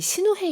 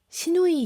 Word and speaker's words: 시누헤: 사실 이 신우회 이야기가 그냥 묘하게 이제 한글에서는 발음 잘못하면 신우이 이야기로. 네, 많이들 그렇게 농담을 그쵸?